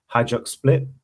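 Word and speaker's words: Hajduk Split: Um he came through the ranks of Croatian management with um Hajuk Split, that's how you say it.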